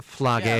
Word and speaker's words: Phlage: Flage. P. Fellatio. It is Yeah, Flage. rhymes with Horatio.